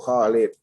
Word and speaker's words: Khalid: ah barona Abu Khalid Abu Kholid sudah bacanya panjang ya Ishaq bin Ibrahim Ishak